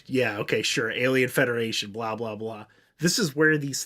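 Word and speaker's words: Blaau: to pronounce this one it's b-l-a-a-u so i think it's blah blah these aliens are part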